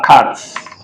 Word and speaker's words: carte: So it's silent when it is the last letter. E.g., la carte, you can see silent when it is the last letter in French. We don't pronounce it.